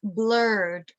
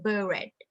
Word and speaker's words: blurred: changed it okay um it's blurred with ed and when you pronounce it the idi part becomes d blurred not buried blurred vision so this patient